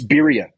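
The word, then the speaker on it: birria: Philly that'd be fun it's birya to pronounce it you roll the art video there you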